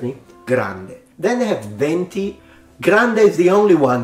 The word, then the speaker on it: venti: Winds of coffee maybe does mean wins anyways pronunciation it's not venti it's venti Venti venti and this connects to our last